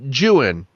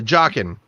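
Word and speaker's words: Joughin: oh my god um Charles uh Jan I believe that's how you pronounce his last name no I just looked it up sorry uh jocken Charles jocken and he had survived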